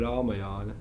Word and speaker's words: Rāmāyana: Mahabharata or Ramayana? Ramayana! How did you say? Ramayana! It sounds different in Hindi. Rāmāyana! So I thought - Ramanaya? What is it? I will write down the correct pronunciation: Rāmāyana!